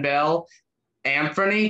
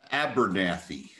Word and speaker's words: Abernathy: And joining me right here is my good friend Bill Amphony. Did I say that right, Bill? Abernathy. Abernathy. Abernathy.